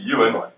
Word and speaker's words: Ewan: So that's you pronounce his name Ewan.